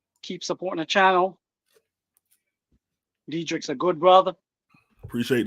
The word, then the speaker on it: Dedrick: name my my name right one day oh dedric yes sir yeah I'm G be honest with